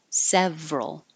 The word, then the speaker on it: several: But this is one of the words where the middle syllable gets dropped and we make it just two, federal. Others with that same pattern, general, several. So federal, even with the suffix ism, federalism, Canadian federalism.